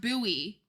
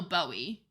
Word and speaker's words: Bowie: us that there is indeed a town named Buoy Maryland but in Texas it's wait hold on it's pronounced buoy it's named after Jim buoy who played a